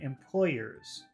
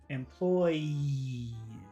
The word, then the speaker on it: employees: had a problem because it sounded like he was saying employers. Remember that in some types of English, it's not really important to pronounce an R. So really the only big difference between word number one, employees, and employers is the vowel sound.